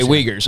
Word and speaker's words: Uyghurs: and i don't know i'm pronouncing it right but euger the wikers okay uyghurs okay thank you i'm glad to know